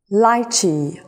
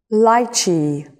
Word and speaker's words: lychee: apple star apple lychee there are two pronunciations of this fruit lychee lychee and lychee lychee papaya papaya orange